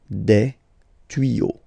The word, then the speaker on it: des tuyaux: Same rule, you don't pronounce it. Des tuyaux.